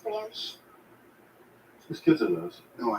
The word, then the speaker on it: brioche: Pretty sure it's pronounced brioche. It gets It's popular. French. It's pronounced brioche.